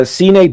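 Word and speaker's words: Sine: a faction for their own ends so a CNA Darkwood s-i-n-e Darkwood okay and they are spell that again s-i-n-e Darkwood and uh she's part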